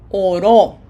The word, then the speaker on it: oró: Oró. Which means he prayed. Without the accent mark, it sounds oro.